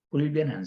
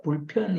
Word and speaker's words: 불변: 접근하나 소개를 하려고 하는데 우리 일본 선교사님들의 발음에 비읍하고 피읖이 이게 사실이 사용하는데 헷갈리는 것 같아 불변 불변의 사랑이잖아요 영원불변불변인데 그랬을 때는 아마 소리가 불편이 일어나는가 봐 그래서 불편을 써요 그럴 때는 표현이라고 하는